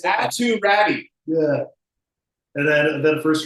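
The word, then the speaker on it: Aatu Räty: Auto ready is how I'm pronouncing it. I think it's Atu Ratu. That's where's Ratu? It's Atu Ratty.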